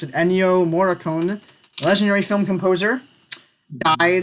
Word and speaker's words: Ennio Morricone: okay I know his name I think you pronounce it Ennio Morricone legendary film composer I ate it this week